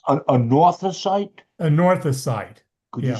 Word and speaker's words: anorthosite: A northosite? Anorthosite. Could you spell that, please?